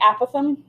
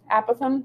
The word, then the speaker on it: apothem: agree a possum right some people say apothem apothem apothem it's not stupid apparently it's said both ways so whichever is fine